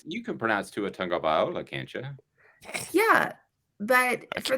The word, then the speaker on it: Tagovailoa: There's not a G, but no one knew that there was a G sound.